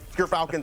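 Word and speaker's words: Gyrfalcon's: But Gerfalcons, everyone, so anyone who mispronounces it, that's how you say it.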